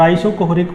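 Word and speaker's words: isochoric: और आइसोकोहरिक प्रोसेस मैं आपको बता दूं स्पेलिंग, आइसोकोहरिक, हाँ CHORIC, आइसोकोहरिक प्रोसेस।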